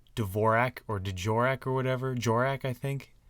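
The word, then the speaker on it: Dvořák: or djor or whatever jorak I think it's like d a v o r a k like there's a j pronunciation as part of that and it throws me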